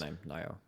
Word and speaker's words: Naihu: jungler for Top Esports, Naihu, I believe is how you pronounce his name, uh has reportedly, I